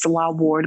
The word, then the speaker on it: Nselaa Ward: are the same it's salah ward my name is spelled a little differently it's n-s-e-l-a-a-w-a-r-d um the n is silent in my name but my name is